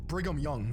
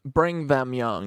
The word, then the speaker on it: Brigham Young: Zion for his people briam young the second and longest re uh bring them young is actually how you pronounce it fillian president of the